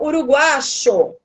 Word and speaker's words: uruguayo: Ela não fala uruguaio com som de I, porque os uruguaios não falam o Y com esse som. É o som uruguacho. Exatamente.